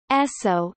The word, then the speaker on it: Esso: The name is the phonetic pronunciation of the initials S and O in the name Standard Oil.